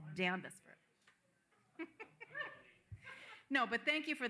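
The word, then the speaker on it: Danvers: can say hayil yeah danis it's for D it's danis forever for me even though there is an r in it it's damis no but thank you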